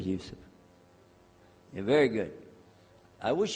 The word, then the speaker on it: Yusuf: my name is Yousef can you say Yousef you say Yousef you're very good I wish you teach my wife she keeps mispronouncing it she calls me now how many of you were in